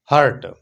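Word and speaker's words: hurt: हर्ट, लफ्ज हर्ट होता है और वो जो दिल होता है उसको हार्ट कहते हैं, करेक्ट प्रोनाउंसिएशन इसकी ये है।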